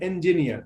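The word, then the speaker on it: engineer: সো এই জিনিসগুলো, যেমন আমি একটা ছোট্ট টিপস দিলাম যে আমরা ইঞ্জিনিয়ার বলতাম, আসলে সব ইটাই শুরুতে হইলে এ উচ্চারণ হয়, ইঞ্জিনিয়ার, ঠিক আছে?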